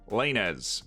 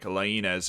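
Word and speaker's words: Laínez: We're sticking with the Spanish because we're going with the Mexican Wonderkid this time, Diego Lainez. That's the American pronunciation. It's actually like Lainez.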